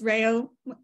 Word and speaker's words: Rayo: all right I'm Rayo I always tell my kids Rayo sounds like Mayo they never pronounce my